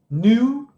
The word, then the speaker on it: knew: Know, knew, known. Verbo know, verbo saber, conhecer. Então lembrando, KN jamais a gente pronuncia o K.